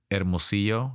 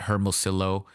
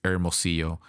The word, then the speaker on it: Hermosillo: It's actually Hermosillo. That's how you say my name. Not Hermosillo, it's Hermosillo. So the double L makes a Y sound at the end.